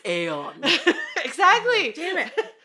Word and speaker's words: Aeon: No, it's Aeon.